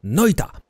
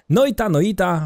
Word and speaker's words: Noita: Mówiąc to tak, jak tutaj mocno mnie przekonywał do tej poprawnej wymowy Waldek, Noita. Noita, w każdym razie gramy